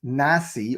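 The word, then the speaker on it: נשיא: neck n sign equals neck and it's PR pronounced Nasi or N na n a CE so it's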